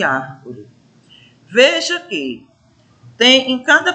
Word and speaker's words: árvore: E na terceira palavra, a gente tem uma sílaba destacada, que é ar, não é isso?